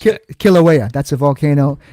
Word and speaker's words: Kilauea: How do I pronounce that? Kilauea.